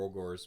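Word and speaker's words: Ogor: But before we move on to like talking a little bit more ogres, because I do want ogres.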